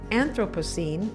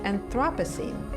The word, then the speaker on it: Anthropocene: age we may be entering she says that anthropocene is the preferred pronunciation rather than anthropocene well i got to tell you molly i've